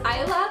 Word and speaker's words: Isla: ecstatic for east i i know it's pronounced isla but i hate that name so much so i'm going with isla and the happily ever after you can comment all you want on how it's pronounced i am saying isla because it sounds better than isla next i have a